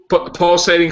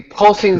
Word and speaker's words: Pulsing: Pulsating Cinema? Yes, the pulsing cinema, yes. Pulsing, not pulsating. Pulsing? I apologize. It's pulsing. It's like pulsing. Pulsing. Two syllables, not three.